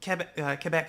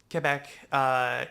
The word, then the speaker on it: Quebec: So Quebec had been like Quebec. Quebec. Had been very much like Qatar, Quebec. There's a U though in Quebec. There's no U yes, in but it's Qatar. French. So, Quebec.